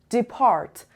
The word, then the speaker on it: depart: earth number two depart depart the da depart two syllables and the stresses on the depart the second level so depart to go